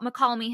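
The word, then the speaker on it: Mokelumne Hill: And I'm like, he's not saying it wrong, though. That's how we all say it there. That's how I've always learned it as well.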